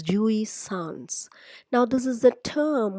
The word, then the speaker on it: jouissance: what is Jewish Sans you pronounce it as Jewish sounds now this is the